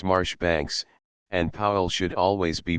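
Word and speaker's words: Marjoribanks: beum should be beum Majora Banks Marsh Banks and Powell should always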